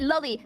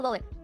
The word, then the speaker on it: loli: No, and by the way, I pronounce it lolly, like Lolita, which is the fucking book that the term originates from, alright? Anybody who says fucking lolly, you know, like Disney here is cringe.